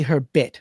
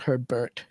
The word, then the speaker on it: Herbet: It's Herbet, not her Bert.